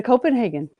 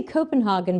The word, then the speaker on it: Copenhagen: So come to Copenhagen. That's right. And I would say Copenhagen, but evidently it's Copenhagen.